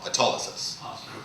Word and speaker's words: autolysis: Autolysis.